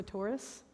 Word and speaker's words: Torres: descent and Mexican descent hence I say my name is Teresa Taurus which is maybe the most American way to pronounce this name so if you come